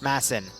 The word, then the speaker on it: Madsen: die pretty hard Madsen is pronounced Mason thanks for letting me